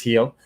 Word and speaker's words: Gil: I always want to say Gil because it's spelled that way, but it is Gil.